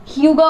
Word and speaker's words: hygge: Book में सबसे बड़ी बात यह है कि ह्यूगा वर्ड की प्रोनाउंसिएशन ही बड़ी बात थी भाई। जो स्पेलिंग है वो HYGGER, मुझे तो पहले पता ही नहीं था कि इसको प्रोनाउंस कैसे करते हैं। ठीक है, मुझे पता चला कि इसको ह्यूगा बोलते हैं।